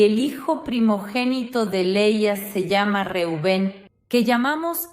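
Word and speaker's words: לאה: Y ahora las hermanas Raquel y Leia. Raquel se pronuncia Rachel y significa oveja. Y Leia también a veces se llama Lía en portugués. Se pronuncia Lea y no viene del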